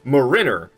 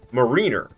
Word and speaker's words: Mariner: It's pronounced Marine, and then you add an R on the end, and it changes the pronunciation of Marine to Marin. So then you're saying Mariner, not Mariner.